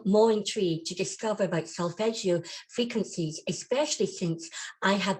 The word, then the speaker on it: solfeggio: back on again and asking me about these solfeggio. Am I pronouncing it right?